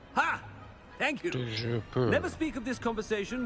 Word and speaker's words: Toujours pur: Toujours pur. Ha! Thank you. Toujours pur.